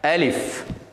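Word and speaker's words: ألف: உண்மையிலே இந்த எழுத்து அலிஃப் என்று உச்சரிப்பதை விட அலிஃப், இந்த எழுத்தினுடைய உச்சரிப்பு முறை அலிஃப். அலிஃப் புல அப்படி உச்சரிப்பதல்ல, அலிஃப் என்று சொல்லக்கூடாது. அலிஃப், ஏ இல்லை, ஏயும் இல்லை, ஆவும் இல்லை, 2க்கு நடுவால அலிஃப்.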